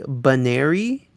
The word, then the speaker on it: Buneary: this episode does kind of establish the correct pronunciation which is more like banari but i might just switch to the other